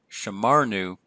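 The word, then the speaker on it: שָׁמַרְנוּ: Again, we have the accent marked in the second to last syllable, the pretonic syllable, shamarnu, and our new ending,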